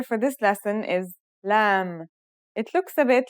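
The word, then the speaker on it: ل: Our second letter for this lesson is lamb. It looks a bit like the previous letter calf in its isolated and final forms. The lamb sounds like the English L. Very easy to pronounce.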